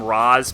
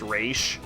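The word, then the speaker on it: Ra's: he fights ratio ghoul but they call him Roz because none of them know that that names pronounced race like that one is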